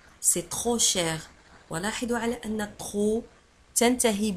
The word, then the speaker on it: cher: Cher, كما قلت لكم. Cher, هو غالي. ساكوت شير هو مكلف جدا أو غالي. شير تكتب ب سي اش او ار.